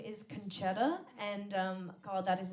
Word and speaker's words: Concetta: a common name um so often when i'm telling people they mishear me and they think that i'm saying my name is coachella and that's not a name it's not it it's conchetta it's actually also my